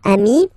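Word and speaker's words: amis: it's the singular remember if you want to put the plural form then you just add this final s here okay but then technically you pronounce it the same way so singular form Ami plural form you add this s but it's am as well okay in that case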